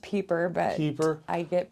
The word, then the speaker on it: Pieper: It's pronounced Pieper, but Pieper? I get Piper a lot.